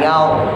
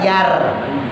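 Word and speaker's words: يوم: La yaw, bukan yar, bukan merenyes, bukan mesem, bukan yar, tapi yaw, yaw, monyong.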